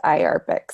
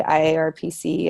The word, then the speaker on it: IARPC: the interagency Arctic research Policy Committee and it's pronounced eye Arabic some people try to say I are PC I think it's easier to say I Arabic